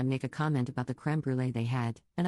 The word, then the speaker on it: crème brûlée: a comment about the crème brûlée they had, and I pronounce it in French. Because it's a French word. And I'm French. And Sorrel interrupts and goes crème brûlée in a really exaggerated